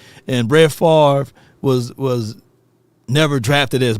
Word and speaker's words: Favre: with that right and Favre was was never drafted as Brett Favre he was drafted as Brett frers because they couldn't even say his name right and he was drafted by